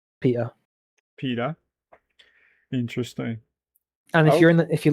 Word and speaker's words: Peter: You know how Hyper would pronounce it? Pia. Peter. Pia. Where's the T, Hyper? Where is the T, bro? I mean, I will be honest. I would say Peter. Waha. Can I grab a bottle a bar of water? Bottle of water. Pia. There you go. But no, I would say Peter. Peter. We don't pronounce our T's.